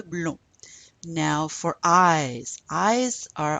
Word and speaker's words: blonds: We don't pronounce the D or S. Les cheveux blonds.